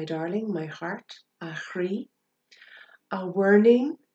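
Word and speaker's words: a mhuirnín: my heart a hri a warning which can also be pronounced a verning and that just means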